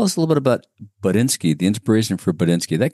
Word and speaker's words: Buttnski: So that's why I pronounce it the way I do, because it's an actual word. And we changed the letters to have a play on words in the brand name Buttnski.